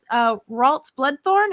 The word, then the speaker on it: Ralts Bloodthorne: We're here to talk with Ralts Bloodthorne. Am I pronouncing that correctly?